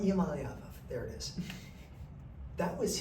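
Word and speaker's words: Iamaleava: Iamaliava? Iamaliava, there it is.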